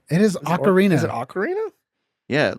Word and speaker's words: ocarina: It's it hasn't aged very well, but it's quit calling it Orcarina. It is ocarina. Is it ocarina? Yeah. Like it's a musical instrument.